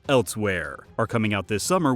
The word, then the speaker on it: Elsweyr: the Elder Scrolls online random letters that may or may not make a word but I'm pretty sure it's pronounced elsewhere are coming out this